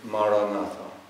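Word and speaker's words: maranatha: recommend is the word maranata it's an ancient Christian prayer that means come Lord in the language that Jesus spoke and if you choose this word say it as four syllables ma ra na articulate the word clearly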